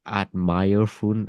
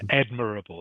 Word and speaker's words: admirable: I think it was like admire fun. I don't know. All right, something like that. If you the word is admirable. Oh, admirable. Oh, Yes, admirable is how it's pronounced.